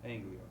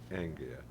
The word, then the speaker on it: Anglia: Is that how you pronounce it? Anglia. Anglia.